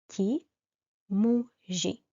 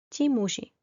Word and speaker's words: ti muži: And the one exception for the animate masculine nouns is pronounced in a soft way and it ends in a soft I.